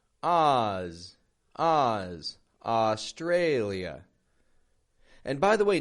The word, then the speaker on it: Australia: Australia. And by the way, notice the contrast in the syllable stress there. How the tray goes strong.